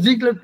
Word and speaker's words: Xi: यह X-I है, इसे "Xi" कैसे पढ़ा जाए? इसे " Xi" कैसे पढ़ा जाए? फिर यह ज़ी-क्लेफ्ट बिंदु बन गया।